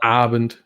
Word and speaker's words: Abend: You want to stress the second word on the A. So it's Abend.